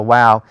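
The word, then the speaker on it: Waw: it like a V some people prefer to pronounce it or call it Wow and pronounce it like a w throughout basics of Biblical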